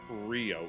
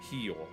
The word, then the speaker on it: Rio: I know that within like Brazil it's not Rio. It's Kio Kio Janeo is how they say it.